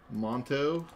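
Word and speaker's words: manteau: m a n t e a u MTO Monto yeah hold on I got to change the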